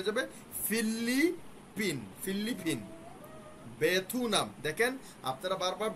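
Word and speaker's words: 베트남: যাবে filly pin ফিল্লিপিন বেথুনাম দেখেন আপনারা বারবার বইয়ের মধ্যে শব্দার্থের মধ্যে লেখা আছে ভিয়েতনাম আপনারা ভিয়েতনাম উচ্চারণ করার চেষ্টা করতেছেন বানানটা খেয়াল করেন বেথুনাম এটা আছে এভাবেই আপনারা এভাবেই উচ্চারণ করেন বেথুনামথুনামগু থাইল্যান্ড বলে থেগু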